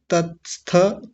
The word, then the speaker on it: तत्स्थ: तत्स्थ, कुछ लोग बोलते हैं ततस्थ, ततस्थ नहीं है, तत्स्थ। तत् पहला क्या है? तत्, और फिर है क्या है? स्थ, स्थ।